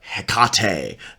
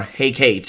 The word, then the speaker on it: Hecate: so like for example I work with Hecate yeah or Hecate a lot of people get really hung up on how they pronounce her name or hey Kate if you're Shakespeare um but I work